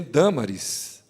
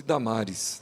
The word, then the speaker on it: Dâmaris: E também Dâmaris, uma das ilustres moradoras daquele lugar. Hoje, traduzido para o português, nós tiramos o acento, né, da primeira sílaba e chamamos de Damares, né, para muitas pessoas.